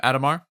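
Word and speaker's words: Adhemar: Um, Adomar. Adomar. We said it pretty quickly. Adomar and William are at each other's throats. Adomar is like royalty. William is a peasant. Adomar is everything.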